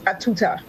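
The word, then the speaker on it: à tout temps: The French for at all time is a tout-temps, pronounced a tuta.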